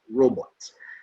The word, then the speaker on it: robot: to say robot okay in french this robo fine english is robot and then uh the